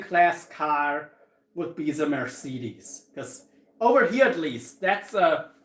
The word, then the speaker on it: Mercedes: Like most taxis are Mercedes, for example, or Mercedes, how it's properly pronounced.